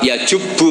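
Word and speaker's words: يَجُبُّ: Nabi ngendikan Al islamu yajubbu Ma qoblah itu bacanya bukan yajibu tapi apa yajibu lah kalau pas ini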